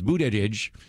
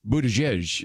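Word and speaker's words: Buttigieg: is another one because Buddha shengshou says really the way to say my name is Buddha tidge but then his husband says it's Buddha jej and it's about the same but you know it's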